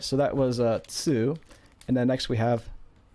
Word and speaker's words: つ: So a T and a U actually changes the T to almost a T, to like a TSU sound. So this is Tsu. And if you have trouble pronouncing this, just think of cats, right? And then try to say katsu, and then just get rid of the CA.